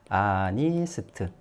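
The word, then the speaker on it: honest: 어언 아니스트 맨 예 시작은 h 자음으로 시작했어요 그런데 얘 발음이 어떻게 나죠 아니스트 발음 상으로도 아로 발음 나죠 예 그러니까 이건 언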